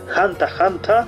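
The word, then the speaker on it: ハンター×ハンター: Al costado, además del espacio de las figurinhas, vamos a tener el título original, lo tenemos pronunciado en japonés, Hanta Hanta, creado por Yoshihiro Togashi en 1999.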